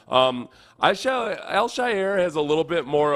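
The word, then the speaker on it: Al-Shaair: the the way the announcers say it is El Shyer uh so aiz eler Elshire yeah Elshire something along those lines the pronunciation guide was no help to me but the uh the actual announcers pronounce it Elshire so I I'm very very fine with Al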